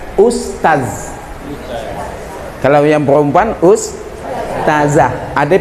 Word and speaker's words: Ustaz: Arti Ustadz itu kayu. Masa saya dipanggil kayu? Yang betul adalah Ustaz.